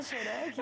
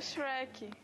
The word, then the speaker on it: Shrek: Não é Xereca? Eu pra mim você tava zoando. É Shrek.